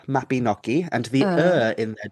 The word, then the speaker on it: Mabinogi: Uh, Almost. So it's Mabinogi. The Y Mabin. in Welsh, it makes like an noise, almost like you're kind of thinking about what you're about to say.